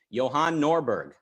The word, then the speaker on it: Johan Norberg: think we'd better hear him out on this johann norberg you did well on that pronunciation i'm good thank you thanks for inviting